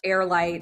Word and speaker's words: HeirLight: I really love about Airite, so for those of you listening and watching, it's really heirlite is a and it's pron it's spelled h e i r. So like the air.